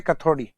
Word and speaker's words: कथोड़ी: है, जो जाती है जनरली कथोरी जो लिखा है इसको प्रोनाउंसिएशन अपन ये करते हैं कथोड़ी, कथोड़ी जाति।